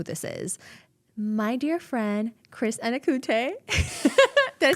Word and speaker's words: Chris Anokute: My dear friend, Chris Anokute.